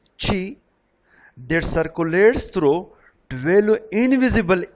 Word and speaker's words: qi: It is pronounced in English qi, that circulates through 12 invisible energy lines known as meridians on the body.